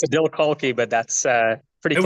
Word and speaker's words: Adil Khalqi: Did I It's pronounce that Adil, correctly? it's Adil Khalqi, but that's pretty It was close.